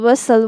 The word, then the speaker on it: whistle: You have to tell kids that this T is silent, but we write STLE, castle, whistle, words like this.